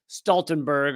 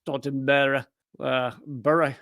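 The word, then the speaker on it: Stoltenberg: the head of NATO Stenberg although I guess it might be pronounced stalen bur or whatever wherever he you know where where he's from this interviewer Norwegian interviewer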